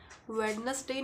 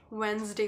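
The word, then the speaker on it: Wednesday: show चल रहा है जैसे कि वेडनेसडे नहीं होता वेनसडे होता है रिसीप्ट नहीं होता रिसी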